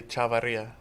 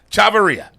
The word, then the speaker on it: Chavaria: Give me the correct pronunciation of your name, coach. It'll be Chavaria. There you go. Chavaria.